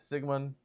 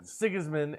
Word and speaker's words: Sigismund: I've got Sigmund. I've got, I always say his name wrong. Sigismund.